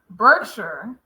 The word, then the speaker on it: Berkshire: ER is R. Berkshire.